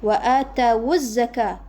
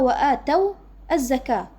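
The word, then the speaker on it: وآتوا الزكاة: Sini juga wa atawuz zakah. Aslinya apa? Wa ataw az-zakah. Waw jama' di sini harusnya sukun, tapi kita rubah harakatnya menjadi dhammah karena bertemu dengan hamzah wasal.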